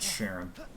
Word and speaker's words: Charon: up for a bridge it's pronounced sharon i don't know why